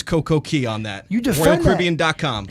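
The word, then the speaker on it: CocoCay: It is pronounced Coco-Key.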